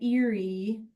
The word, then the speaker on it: Erie: So in the margin, yeah, in the margin, go ahead and write Erie Canal. It sounds like Erie, like woo, Erie, but it's not. It's spelled differently.